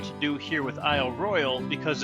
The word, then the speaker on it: Royale: I royal national park. Or is it Royale? Potato Potato according to the park rangers, but I'll pronounce it how they pronounce it.